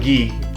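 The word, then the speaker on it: Ξ: Recently, I picked up the Gi, I think Gi. Gi's how they pronounce it in the movie, but I picked up the G-Gundam from Hathaway Splash.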